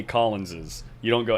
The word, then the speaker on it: Collins's: confused if you if you write the possessive version of my name right like possibly after this yeah it's after the yes but how do you say it i'm not going to sound stupid on stream you say it's collins's collins's but you just you write it c-o-l-l-i-n-s apostrophe but you say collins's you don't go s